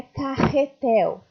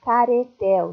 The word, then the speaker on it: carretel: A primeira palavra é carretel. Se escreve com RR, se fosse com R só seria caretel. Não existe caretel. Então, a gente duplica o R para deixar com som forte.